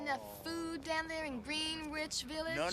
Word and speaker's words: Greenwich: Come on, you getting enough food down there in Greenwich Village? No, no, no. First of all, it's pronounced Greenwich.